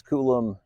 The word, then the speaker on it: Koulomb: Eric Way operates the News Koulomb YouTube channel. This charge point operator is pronounced the same, but the first letter is a K instead of a C.